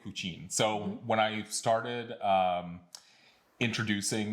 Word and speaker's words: Kučin: So let's start with Tnakɛ Kučin.